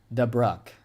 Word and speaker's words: Dubuque: Dubuque? Now I'm getting told different ways to say it, guys. Gosh. Okay, we have this get downgraded. All right, looks like we have another one. Dubruck.